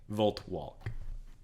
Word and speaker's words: Voltwalk: man named Yogo voltwalk yeah you're welcome y-o-g-o-v-o-l-t-w-a-l-k volt walk and it is with the L is pronounced volt walk because I hate myself I